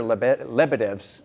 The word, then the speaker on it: Lebedevs: Joining us this afternoon is tournament director Peter Lebedevs.